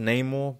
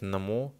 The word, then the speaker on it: Namor: It's originally pronounced Namor, but in this teaser clip we've been given, he even says his own name is Namor.